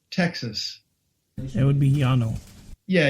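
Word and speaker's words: Llano: Texas it would be Yano yeah Yano I was gonna say the dou L has always been pronounced as a y as far as I know so um yeah Yano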